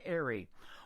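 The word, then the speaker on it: Aery: His name is Clayton Airy, and his last name is spelled A-E-R-Y.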